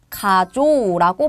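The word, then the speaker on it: 過剰: 그러면은 요것도 요라고 읽어야 되는데 이때는 요음으로 바꿔서 가조라고 발음해 주시면 되는 거예요.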